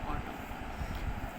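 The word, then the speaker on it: autumn: Round, ऑटम, different, season, great. यहाँ पे N silent, ठीक है, ऑटम।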